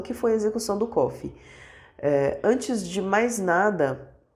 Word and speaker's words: Coffey: Porque ele fala que se fala igual o café, mas não se escreve igual o café, então é Coffey.